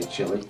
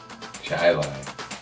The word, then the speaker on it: Chili: Don't you hate it when they say chili? Are you from Chili? Chai lai.